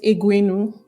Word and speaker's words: Egwuenu: Yeah, it's pronounced Egwuenu and it's spelled with an E, but it's pronounced A.